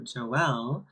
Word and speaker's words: Jo El: right now so yeah my name is Joelle and a lot of people would say like oh well or Joel or like they just they wouldn't pronounce it right one time I got